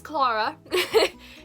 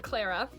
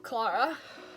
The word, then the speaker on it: Clara: It's Clara. It's in no way, shape, or form Clara. It does not say air in the name. It says R. So Clara, and then.